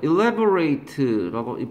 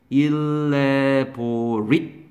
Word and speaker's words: elaborate: elaborate라고, 바쁘죠. 발음을요, 형용사와 동사가 발음이 다르다는 건 우리가 1과, 12일에서 했잖아요. 이게 형용사는 발음 써. elaborate. 티급 받침. elaborate. 동사는 뭐라고 하겠어, 최강? elaborate. 이렇게 발음해야죠. elaborate.